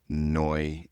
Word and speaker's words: Neu: And I had moved to Germany and then renamed it NeuBite because Neu, N-E-U is how you say new in Mhm.